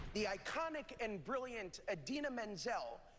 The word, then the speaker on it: Idina Menzel: The iconic and brilliant Idina Menzel, pronounced exactly as it is spelled, is our Elsa.